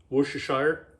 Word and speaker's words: Worcestershire: below how i'm going to season it up worcestershire is how you say it nobody knows uh